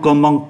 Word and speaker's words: commençons: Je commence âm sờ, tu commences âm sờ, il commence âm sờ, nous commençons cùng, bởi vì c đi với o đọc là cô, vous commencez, il commence.